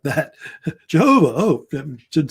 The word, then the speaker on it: Jehovah: using the term Jehovah, which is actually how they pronounced it originally, Jehovah, because back then the J was silent. Now they say Jehovah, but it's Jehovah.